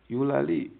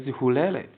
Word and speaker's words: Eulalie: That is why she cannot even pronounce the word Eulalie and pronounce as Hulele.